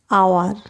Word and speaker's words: hour: whole but option b hour here h is silent hence option b is